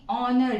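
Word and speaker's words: honour: ऑनर बन जाता है इसे हम एच का ह नहीं प्रोनाउंस करते क्योंकि एच बिफोर वल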